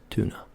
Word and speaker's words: tuna: would say it, is tuna. Like a tuna sandwich. Some tuna. Well, in Scotland, for some reason, whenever it's tuna, we say tuna. Tuna. Tuna. With a CH at the beginning.